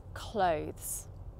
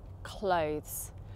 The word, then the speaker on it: clothes: Clothes. Clothes. Pretend you can't see the word cloth within this word because it's clothes.